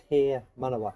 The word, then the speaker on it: Te Manawa: So this building is called Te Manawa. এই building এর নাম হচ্ছে তে মানওয়া। Māori. It's pronounced like if you tear a piece of paper. Tear. Te for tear.